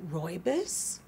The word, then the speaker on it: rooibos: If you want tea, we have green tea, black tea, red tea, which I believe is pronounced rooibos, white tea, Earl Grey tea, and then my personal favorite, lemon zinger.